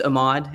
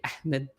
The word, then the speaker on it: Ahmad: It's uh I use Ahmad and I guess the the Arabic pronunciation would be Ahmed but um we had a a good professor at HDS uh who would say Mr. Ahmmed. So if you prefer that's great too.